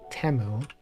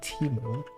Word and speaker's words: Temu: I also get T is it temu or teu I feel like they pronounce it temu but many people say Teemo Twitter pre Elon was